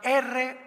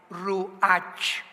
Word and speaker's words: Ruach: la palabra como suena, R-U-A-C-H, Ruach, que es la palabra hebrea que significa espíritu, y se pronuncia la CH en el hebreo como J, Ruach, Ruach, como J, Ruach.